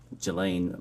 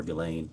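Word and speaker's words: Ghislaine: that in 2024 uh Gelain Maxwell or Gileain I think is how it's pronounced arranged and wired $1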